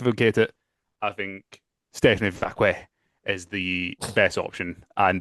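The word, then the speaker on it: Vaquer: Vacque. You definitely say it properly. You will just say it as it's spelled. You're like Vacque.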